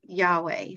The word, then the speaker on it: Yahweh: we say the word Yahweh so I I'll pause for a second say it like yah is in way I mean you say